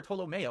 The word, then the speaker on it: Tolomeo: Is it Tolomeo or Tolomeo? I always forget how to pronounce it. It's Tolomeo.